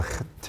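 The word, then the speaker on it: חית: 그래서 헤트가 나오면은 헤트에서 여기 목에서부터 헤트 이렇게 나와야 돼요. 한번 해보세요. 헤트. 예. 약간 거슬리죠? 자주 해보셔야 돼요. 헤트. 헤트. 헤트. 예. 헤트. 그래서 히읗에다가 기역이나 키역을 살짝 가미한 듯한 그런 발음이 나오는 거예요.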